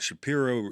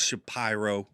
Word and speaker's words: Shapiro: keep we didn't know was it Shapiro it's it is shapy I know that now